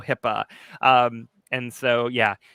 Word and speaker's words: HIPAA: Yes, that's how it's spelled. HIPAA. It's not hippo, HIPAA.